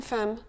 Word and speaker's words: femme: Oui, on dit emballer, embêter, une tempête, mais on dit aussi une femme. Dans ce cas, c'est le E-M-M-E qui prend un son très particulier, une femme.